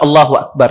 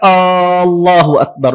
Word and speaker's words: Allahu Akbar: Allahu Akbarnya itu salah contoh misalnya dia memanjangkan ya Alif di pertamanya dipanjangkan dia seperti bentuk istighfar dia katakan dia panjangkan a-nya ya dia panjang para